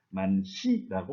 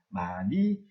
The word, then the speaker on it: 많이: 예를 들어서 라흔이라고 말하지 않습니다. 만희라고 말하지 않습니다. 달하라고 말하지 않습니다. 이때 발음을 할 때 히읗을 없애고 탈락시켜서 나은, 많이, 달아 이렇게 말을 합니다.